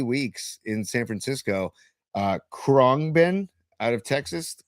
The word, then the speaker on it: Khruangbin: Khruangbin out of Texas. Khruangbin. Metal, right? No. They're like dub reggae funk lounge. Spell it again.